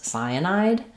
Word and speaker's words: cyanide: Let's look at how to pronounce cyanide. We have first syllable stress and letter C says the S sound in this word.